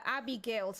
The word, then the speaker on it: Abigail: Oh, I've seen Abigails around, but they pronounce it here as Abigail.